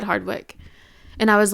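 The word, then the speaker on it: Hardwicke: Katherine Hedwick. Hardwick. It's Hardwick. Sorry, I I mispronounced that.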